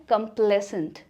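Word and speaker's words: complacent: तो ये एक नेगेटिव ट्रेट है जिसकी राइट प्रोनाउंसिएशन है कंप्लेसेंट।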